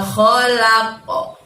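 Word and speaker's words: khalaqa: Min syarri ma kholaqo. Nah, pada saat kho tadi, kho kalian bacanya keluarkan hurufnya dari tenggorokan ya teman-teman, tenggorokan bagian atas.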